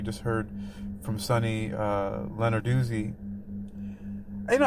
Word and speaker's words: Lenarduzzi: Leonard Duzi, you know, I always thought I heard her pronounce it once I think and I think she said Leonardi or But to me, I thought that Italian would be lenardy. The two Z's together make the dootsy dootsy sound.